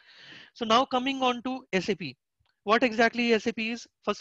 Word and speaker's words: SAP: It is called SAP and it should be pronounced as SAP only.